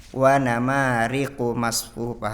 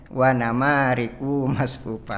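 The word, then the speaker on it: وَنَمَارِقُ مَصْفُوفَةٌ: Nah, sama tadi yang satu harokat seperti dibaca dua harokat. Wa namariqu masfufa, harusnya dibaca gitu. Tadi dibacanya wa namariqu masfufa, seperti itu ya.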